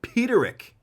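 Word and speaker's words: Peterik: How do you pronounce this guy's last name? Peterick? Jim Peterick.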